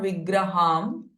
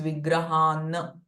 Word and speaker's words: Vigrahan: Now here, Vigraham, the Anuswara is getting followed by Tra syllable. And because of that, the Anuswara sound will change to N. So it is not Vigraham, but it is Vigrahan.